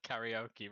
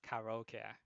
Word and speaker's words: karaoke: to be correct and it's also pronounced karaoke not karaoke thanks for that mr weeble yeah because it's a japanese word so you have to listen to how they pronounce it just like how